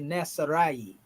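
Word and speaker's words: نصارى: And this is a long A right here. Nasara. So we can say Nasarai. Well, it's actually simply Nasara.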